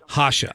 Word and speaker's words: Jasha: weren't that far off at hashas my nickname Hacha all right thank you very much for straightening